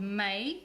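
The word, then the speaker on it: Maille: It's called Mayo. It's spelled M-A-I-L-L-E, but it's pronounced May.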